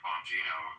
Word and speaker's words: Bonino: the beginning, why would he ever appoint Dan Bonino is like, you know, maybe they just didn't.